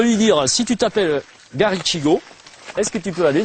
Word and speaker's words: Garichigo: un truc comme ça garichigo garichigo ça il y a pas il y a pas de de TH c'est ch garichigo comme ça se prononce ou garigo alors pour